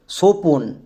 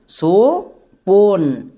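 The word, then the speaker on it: স্বপন: উচ্চারণ করো সোপন, সোপন। এখানে কিন্তু বইয়ের উচ্চারণ পাচ্ছি না, তাহলে আমরা বুঝতে পেরে গেলাম যে বইয়ের জন্য আমরা ডব্লু বসাবো, কারণ বো সাইলেন্ট।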